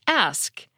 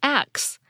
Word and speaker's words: ask: usually hear this pronounced asked but sometimes you'll hear it pronounced as acts with the S and the K sound transposed some people can get